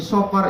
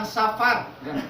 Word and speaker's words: sofar: Jadi sofar itu terdiri dari 3 huruf. Sod, fa, ro. Jadi bacanya sofar, bukan safar. Bukan safar.